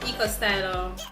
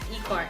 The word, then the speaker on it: Eco Styler: next product is the eco styler gel I don't pronounce it Iko Iko I'm saying eco styler gel this is the coconut